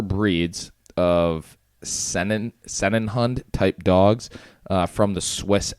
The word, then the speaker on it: Sennenhund: The Bernese Mountain Dog is one of the 4 breeds of Sennenhund type dogs from the Swiss Alps.